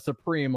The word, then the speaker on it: Supreme: pronounce that Supreme, like cream, though.